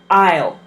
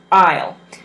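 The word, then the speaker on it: I'll: will can be put together and this is pronounced aisle aisle the the thing to remember with pronouncing contractions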